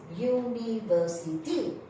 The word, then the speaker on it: university: This word, the pronunciation is university. U. Y. U. That means the pronunciation is from the letter Y.